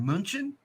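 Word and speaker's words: München: Brits print out Bayern Munich when it's Bayern Munchen or we pronounce it cologne when it's good so we're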